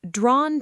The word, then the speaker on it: drawn: In drawn to, the ah sound is long.